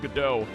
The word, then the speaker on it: Godot: I thought it was pronounced Godot.